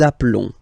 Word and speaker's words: appelons: Nous appelons. Nous appelons. Okay, final s doesn't exist.